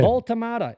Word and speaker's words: Woltemade: How do you pronounce this boy's name? I've not seen a lot of him, Gab. Nick Woltemade. Woltemade.